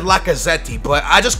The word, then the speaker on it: Lacazette: I think it said Lacazette, but I just call him Lucaze.